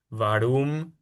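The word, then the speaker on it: warum: b, que en alemán la mayoría de las preguntas importantes empiezan con la w, que es un v. Entonces es como vi, vojea, vas, varum, visó, vojin.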